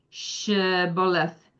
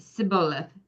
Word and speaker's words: Shibboleth: The people of Ephraim had their own regional pronunciation for the word Shibboleth, which means stream or floods. They said Sibboleth without the H, and this gave them away.